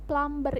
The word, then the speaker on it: plumber: diucapkan bener nggak tapi ada juga beberapa kosakata dalam bahasa Inggris yang hurufnya itu ada yang silent atau tidak perlu diucapkan nah dalam kata ini aku kasih contoh plumber ini plumber yang tulisannya